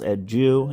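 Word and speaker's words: adieu: this one right here a d i e u H all right guys so it is uh pronounced at Jew and it means goodbye forever so the poem reads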